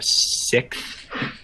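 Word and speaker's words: Sikth: Um, there's I I looked up this other band that uses that genre, sixth, which is S I K uh capital TH, right?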